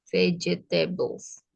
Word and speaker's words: vegetable: any Green vegetableeget veget kan tulisannya pakai g Tapi bacanya pakai j J itu dibaca J vegetables vegetabl berarti I'm going